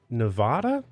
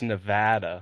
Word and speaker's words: Nevada: Austin Austin is happily married and lives in Nevada is that how you say it absolutely not what how do you say it Austin it's Nevada we had this we had this conversation before